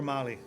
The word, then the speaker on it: Molly: And you notice how Molly is the most proper one, Mary or Molly. It's just And easy. it rhymes with folly.